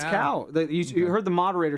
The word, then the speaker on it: Cao: you spell his last name c but you pronounce it C is that is that Co it's cow you you heard the moderator say Mr cow